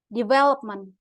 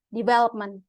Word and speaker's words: development: Nih, misalnya for example, development, bukan development. Kan nggak mungkin kayak gitu ya. Orang Inggris pasti ngomong itu development, not development. Beda. Itu stress.